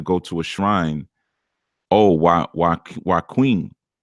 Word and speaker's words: Joaquin: Oh, why Queen is how it's pronounced. Why Queen. Okay, Nikki Love, you must be really in love with him. Doggone it. Joaquin.